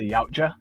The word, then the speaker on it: Yautja: i'm pronouncing it wrong i believe it's pronounced the yautja yeah just the actual